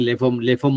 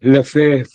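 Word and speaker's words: Lefèvre: I think Lefamo or something like that. What is the pronunciation, Shreya? It's Edwin Lefebvre.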